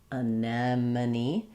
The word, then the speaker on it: anemone: break it down and start on the stress syllable. Anemone. I can practice just the unstressed syllable. Many. Many money man. That's where I'm making my mistake. Mani anemone. Um, and using my visual senses, looking at it, rewriting it.